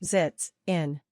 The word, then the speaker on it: sitzen: verb for sit is siten the verb is pronounced zits in put the emphasis on the first syllabus in